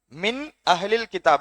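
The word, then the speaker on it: مِنْ أَهْلِ الْكِتَابِ: உள்ளதை உள்ளபடியே ஓத வேண்டும் மின் அகலில் கிதாப் மின் அகலில் கிதாப் இந்த நூனை நம்ம உச்சரிக்கணும் நல்லா மின் அகலில் கிதாப் மின் அகிலி என்று நீட்டக்கூடாது மின் அகலில் கிதாப் அப்ப கண்ணியத்திற்குரிய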